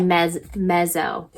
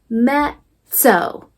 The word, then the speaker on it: mezzo: If this was an English word, it would be mezzo, okay? But in Italian, these 2 Z's, we say it as a quick sizzle. It's kind of like tss. So we say it mezzo, mezzo.